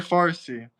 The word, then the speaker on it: Farsi: I think it's Farsi, right? That's how you say it.